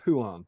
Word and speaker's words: Huan: And James Wilson says the Hound is pronounced Huan.